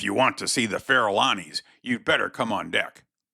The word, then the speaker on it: Farallones: The explanation of it seems to me to be a corruption of the Spanish pronunciation Farallones, as, of course, the double L in that language has the sound of Y.